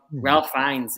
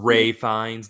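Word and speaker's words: Ralph Fiennes: uncanny it's uncanny I really enjoyed that um Ralph finds in um the menu is so good Great Vines pronounced Ray fines then are you fine yes uh and Anya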